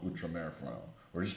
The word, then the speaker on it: Outremer: I'm like, oh, that's Outremer. Nope, and it's actually Outremer. But once I saw that and put two and two together, I'm like, oh, okay, well, I'll just call it Outremer for now.